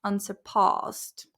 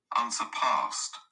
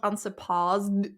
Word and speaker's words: unsurpassed: but whatever unsurpassed unsurpassed so it's actually the stress is on the P unsurpassed unsurpassed also there is T at the end not unsurpassed it's difficult to pronounce